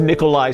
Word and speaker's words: Nikolai: they do join us yeah hi this is Nikolai my name is spelled n-i-k-o-l-a-i Nikolai my last name is